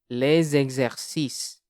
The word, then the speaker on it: les exercices: by a vowel noun, it is pronounced z and begins the following syllable. This is called a liaison. For example, les exercices, des hommes.